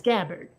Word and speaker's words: Gabbard: Sanders listed third is Tulsi Gabbard a bird right so he she pronounces it so it's Gabbard yeah that lady right